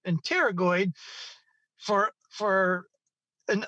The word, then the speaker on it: pterygoid: the t or the the p is silent and pterygoid for for in humble